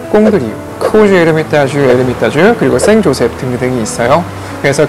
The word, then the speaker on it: Saint-Joseph: 코주 에르미타주, 에르미타주, 그리고 생조셉 등등이 있어요. 그래서 그 중에 하나가 바로 요 생조셉이라는 와인입니다. 근데 제가 계속 생조셉이라고 말씀드리고 있는데요, 이것은 이제 생이라는 것은 불어식발음이고 영어로 하게 되면은 세인트가 되겠죠.